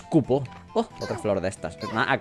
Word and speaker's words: Kupó: Digo Cupo, pero lleva acento en la O, así que es Cupo.